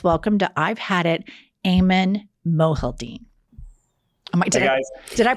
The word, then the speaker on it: Aiman Mohyeldin: Let's welcome to I've Had It, Aiman Mohyeldin. Did I pronounce it correctly?